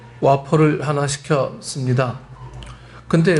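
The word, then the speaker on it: Whopper: 근데 우리나라 발음으로는 거기 분명히 영어 WOFER인가요? 후퍼가 되고 후퍼. 네. Can I have a 후퍼? What? 여자가 알아들었으면서도 그래요. 이 흑인 여자인데 후퍼. 그러니까 와. 예. 와퍼.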